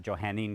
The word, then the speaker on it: Johannine: And we're going to call that Johannine Christianity or some people might pronounce it Johannine Christianity.